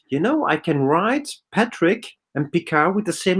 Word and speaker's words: Picard: And I said, it's a French name, Picard, but still everybody pronounced it in the same way.